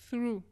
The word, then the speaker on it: through: Through. La prononciation, c'est vraiment comme si c'était... Tu saussautes le TH, R et après OU. Fais pas attention au GH qui est à la fin.